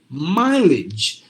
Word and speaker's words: mileage: be e so you have to say mileage so that age you just have to replace it with idg like that kind of sound exactly so mileage Village